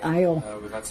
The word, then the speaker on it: Hayot: disagreements over language, like how to pronounce their last name, spelled Hayot. Hayot. Hayot? Not me. How do you say it? I said Hayot. I say it the way it's written because when he first came in, he said Ayo.